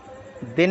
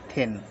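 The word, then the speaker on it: thin: टी एच आई एन यहां पर दिन नहीं है यहां पर है यह थिन टी एच आईस दिस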